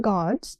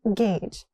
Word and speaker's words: gauge: Not god. It's gauge.